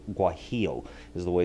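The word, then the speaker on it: guajillo: that's g u a j i l l guo is the way it's pronounced the guo chili It's a red guy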